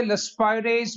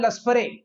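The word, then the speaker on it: Laspeyres: सबसे पहला लिखते जाए साथ साथ, इसको कहते हैं लस्पाइरेज मेथड। अब सुनिए भाई, बहुत सारे हमारे खासकर पंजाबी भाई बहन इसको बोलते हैं लस्परे। भाई लस्परे कुछ नहीं होता, इट इज लस्पाइरेज, याद रखिएगा।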